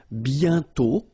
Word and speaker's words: bientôt: And then bientôt, okay? Remember, you put this accent circonflexe, but you don't write it. You write it, but you don't pronounce it. And then the final T is not pronounced. Bientôt, okay?